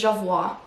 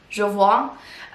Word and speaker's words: Jovoy: Is that how you pronounce it? I think it's Jovoy. Jovoy.